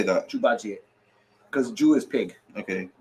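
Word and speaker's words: 猪八戒: Jubaji.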